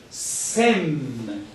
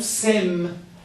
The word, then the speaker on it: sem: Pronunciem bem o M final, tá? Sem.